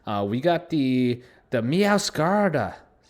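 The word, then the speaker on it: Meowscarada: to run that uh we got the the mow scarda meow Kara there you go that's how you say it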